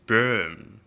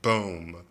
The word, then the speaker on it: Bohm: As a German speaker, es ist Böhm ausgesprochen. It's pronounced Böhm, not Bohm.